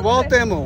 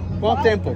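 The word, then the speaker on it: Cuauhtémoc: Quando pronunciamento como é? Kotamo, Kotamo. So it's Kwaltemo. We asked to the professional and now we had it's the Kwamento. The arm Kwamento. Kwaltemo.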